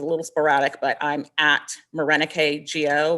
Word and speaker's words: Morenike: If you want to tag me, my social media use is a little sporadic, but I'm at Morenike Go, which is spelled like more Nike and go.